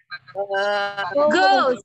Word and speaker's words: goose: Ini bacanya O, ini double U, tapi tidak semua O itu double U ya. O itu double U, tapi tidak semua O bacanya double U. Kebetulan kalau yang angsa itu bacanya U jadinya, jadi goose.